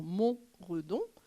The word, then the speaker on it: Montredon: faubourg de Montredon, donc pour la on va dire la prononciation, on est bien sur Mont Redon, je le dis.